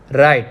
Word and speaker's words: write: Okay, so W is silent over here, W is silent over here.